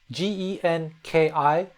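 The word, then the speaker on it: 元気: So it's kind of like an English ng sound to it. G E N K I. But that N has a G, a soft G attached to it. Genki. From this N sound, we're going to seg into the G sound.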